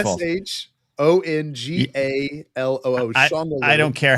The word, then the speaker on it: Shongaloo: S-H-O-N-G-A-L-O-O. Shongaloo. I don't care how you pretended to spell it.